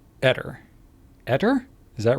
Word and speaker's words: Aether: Speak the word ever and replace the V with T and speak it the same way. Etter. Ever? Replace that with a T. Etter.